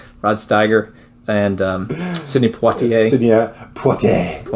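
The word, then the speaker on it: Poitier: stiger and um Sydney poier Sydney unless you're French then he's Sydney poter poter no not if he's French if you're American that's how you say it all right number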